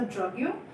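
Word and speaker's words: drogue: ड्रग जो शब्द है ये एक फ्रेंच वर्ड से बना है, ड्रग्यो, जिसका मतलब होता है, प्रोनाउंसिएशन उसका ड्रग्यो, जिसका मतलब होता है स्मॉल हर्ब्स।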